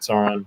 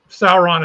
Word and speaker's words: Sauron: Is that how you say it, Sauron?